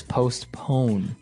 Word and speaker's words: postpone: Now, it's interesting because you have a P in between there, so it's postpone. Postpone. Yeah, it's an interesting word to pronounce.